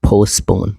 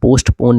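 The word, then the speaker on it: postpone: टम लंबा करके टम lesbian Z give psychic nice स्लंड पोस्टपोन पोस्टपोन नहीं टी साइलेंट रहता है पोस्टपोन पोस्टपोन आई एम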